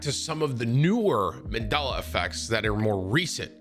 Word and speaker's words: Mandela: of me checking out the mandala effect i know i say it wrong i think it's mandela effect it's very hard